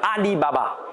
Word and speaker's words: Alibaba: de vous a pour ali baba ça se prononce exactement pareil en chinois à lille papa les caractères sont juste